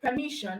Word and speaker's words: permission: Then we have the word permission, also ending with sion. Okay, sion, and the syllable before sion in the word permission is me. Okay, so we have our me as the stressed syllable.